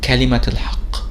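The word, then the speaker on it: كلمة الحق: However, when we add one word next to it, like kalimat al-haq, you'll find that the letter ta marbuta is actually pronounced as t, kalimat.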